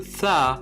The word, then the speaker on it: ث: Entre le Ta et le Tha, il y a une petite différence, c'est que le Ta se prononce de façon nette et précise. Donc c'est un T très net, alors que le Tha est un peu plus nuancé. Donc ça ressemble un peu à the ou the en anglais.